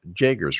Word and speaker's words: Jagers: How did you pronounce her name? Jagers, right? Yes, Jagers.